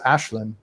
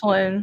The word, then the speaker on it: Aislinn: see, the female elf, her name is Ashlyn, and it's spelled Aislinn. Right, yeah, I've seen that name, and it's spelled like Aislinn. Yeah, exactly. It's Ashlyn, and I've seen a name, Saoirse is pronounced Saoirse.